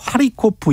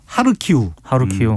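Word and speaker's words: Харків: 그리고 키예프라고 우리가 부르고 하리코프 이 도시들 이름을 부르지 네. 않습니까? 이게 지금 러시아식 발음인데 러시아어식 발음인데 현지어인 우크라이나어를 존중을 해줘야 된다.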